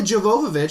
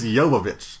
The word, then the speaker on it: Jovovich: It's Jovovich. Jovovich. Yeah, Mila Jovovich. Jovovich. Oh, so the J. So Jovovich? The J is a Y. It's like Django.